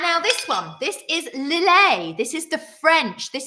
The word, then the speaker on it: Lillet: But we've gone with the French pronunciation today. Lillet. Lillet.